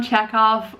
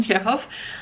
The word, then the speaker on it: Chekhov: what's in store uh he sent me anton chekhov or how it's actually pronounced anton jeff um the three um three short stories by